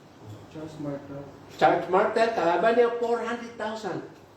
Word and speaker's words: Charles Martel: ang pangalan ni Charles pero ang pronounce doon is Charles Martel Charles Martel Charles Martel kalaban niya